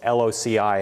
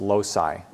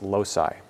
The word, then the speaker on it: loci: plural of locus is loc I and that's pronounced low sigh people want to say loci it's low sigh so shown here there